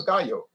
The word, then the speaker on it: Gallo: the u.s market because the real name is gayo that means rooster in in spanish but he couldn't call it gayo because there's ernest and giulio gallow that's gallow wine they pronounce a gallo but they're italian not spanish and so instead of